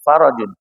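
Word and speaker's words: فرج: itu faraj ada faraj Jadi bukan farjun bacanya farun yafarahan Faran Faran ini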